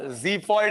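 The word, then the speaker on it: xiphoid: देखो प्रोनाउंस क्या है उसका, ज़िफॉइड है, जी, ओके, ज़िफॉइड प्रोसेस।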